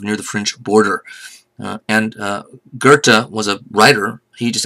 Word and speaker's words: Goethe: on the screen because to pronounce Goethe in German like there's an oar in it there's not a damn